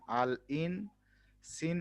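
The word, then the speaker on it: الإنسان: না আলাদা হয় আচ্ছা তাহলে এটার উচ্চারণ হচ্ছে আলিফ লাম আল আলিফ জের ই আল ই আলিফ আলিফ নুন জের ইন আল ইন সিন আলিফ জবর সালিফ নুন জবর সান ইনসান আল ইনসান হ্যাঁ এখন ইনসান মানে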